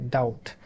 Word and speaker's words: doubt: So this doubt, this word, if you look at here, so we have a B that is silent. In Bangladesh, we pronounce it correctly, doubt. We don't pronounce this B.